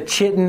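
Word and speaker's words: chitin: And Morrowind had had the had the chi-tin armor. And then I heard ky-tin somewhere, and I'm just like, that sounds so much better.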